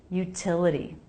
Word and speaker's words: utility: The T here comes between two vowels. That's a flap T unless it begins a stressed syllable, which is what happens here. So it's a true T. Util. Utility. The second T is between two vowels and doesn't start a stressed syllable, so it's a flap. Utility.